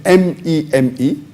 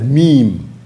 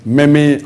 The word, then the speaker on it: meme: The spelling of the word is M-E-M-E. It's pronounced as meme, M-E-E-M, but the spelling is M-E-M-E. It's not pronounced as meme or meme.